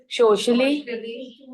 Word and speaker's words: socially: sign post the par socially pronunciation sh not the first sound is s the second sound is sh socially okay socially what he